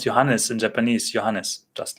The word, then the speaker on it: Johannes: So in German, the J is pronounced as Y. As Y would be pronounced in English.